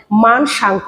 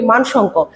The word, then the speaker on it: মানসাঙ্ক: সেগুলোকে কিন্তু বলা হয় মানসাঙ্ক। আমরা আঞ্চলিকভাবে বলি মানসঙ্ক, কিন্তু এটার শুদ্ধ উচ্চারণ হচ্ছে মানসাঙ্ক।